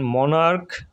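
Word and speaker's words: monarch: কিন্তু দেখেন মনার্ক, সিএইচ এর উচ্চারণটা ক এর মতো হয়েছে, তাই হবে মোনার্কস, একটা এস।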